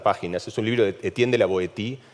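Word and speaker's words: Étienne de La Boétie: es un libro de Etienne de la Boétie, o Etienne de la Boétie, en realidad, que es como se pronuncia en francés, lo que pasa es que a mí me resulta impronunciable así.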